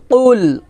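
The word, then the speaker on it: قل: কফ লাম পেশ কুল, কুল, এখানে আমরা বলি কুল, বলি কুল, কুল বলা যাবে না, বলতে হবে কুল। কফ কফ, কফটা মোটা করে উচ্চারণ করতে হবে একটা পাল্টা আওয়াজ দিয়ে।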